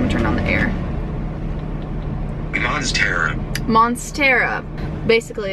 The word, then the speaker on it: Monstera: All right, let's listen to how we pronounce it. I'm gonna turn on the air. Monstera.